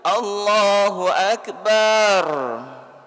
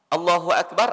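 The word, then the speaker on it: الله أكبر: Kemudian ada juga Allahu Akbar, bar, Allahu Akbar, Allah Maha Besar. Kalau bar itu artinya tuh gendang itu, tuh.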